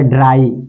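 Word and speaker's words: dry: होता है आई बताइए जब भी दो कंसोनेंट के बाद अगर आई आता है वाई आता है तो वाई का उच्चारण क्या हो जाता है आई तो बस इसका पढ़िए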